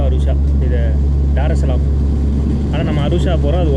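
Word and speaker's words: Dar es Salaam: அந்த தீவில் இருந்து இது டருசலாம், டாரெஸ் சலாம்னு நான் சொல்கிறேன் இல்லை, அது வந்து டருசலாம் அப்படின்னு சேர்த்து ப்ரொனவுன்ஸ் பண்ணுறாங்க.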